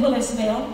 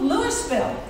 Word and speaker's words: Willisville: Well, my background, Jamie mentioned Willisville. Yeah, there is such a place. And every time I say I'm from Lewisville, people will go, "Oh, Lewisville." As if I'm not pronouncing my own hometown correctly. They uh will help me out with it.